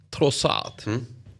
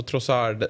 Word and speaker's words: Trossard: Leandro Trossard. Ursäkta, men han är ju från Belgien, så det ska väl vara lite fransk betoning på det.